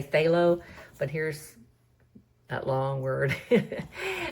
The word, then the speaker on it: phthalo: And then I've included I just abbreviate the pronunciation to say phthalo.